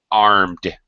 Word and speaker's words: armed: Mauricio a little pronunciation armed armed arm arm and yes armed the D no extra syllable no extra vowel sound armed and that sound is D or t d armed armed yeah after now this